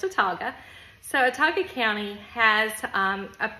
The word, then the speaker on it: Autauga: We are a county school system, which our county is Autauga, spelled really funny, A-U-T-A-U-G-A, but it's pronounced Autauga.